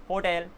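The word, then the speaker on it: hotel: ही पता है हेलो होटल ठीक है ना ये सारे के सारे हो गए अच्छा इसको होटल नहीं बोलते होटेल बोलते हैं क्या बोलते हैं होटल होटेल होटेल कुछ इस तरीके से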